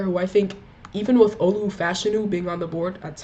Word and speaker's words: Olu Fashanu: go a player who I think, even with Olu Fashanu being on the board, that's how you pronounce his name now, Olu Fashanu, even with Olu Fashanu being on the board at 10, or if